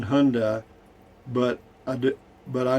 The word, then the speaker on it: Hyundai: last one i think the why is silent in hyundai but i do but